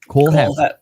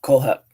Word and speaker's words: Kohlhepp: Todd Kohlhepp. Kohlhepp.